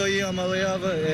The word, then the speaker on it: Iamaleava: I'm Nico Iamaleava, and the correct way to pronounce my last name is Iamaleava.